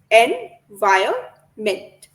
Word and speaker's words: environment: The second N is silent. Envirment.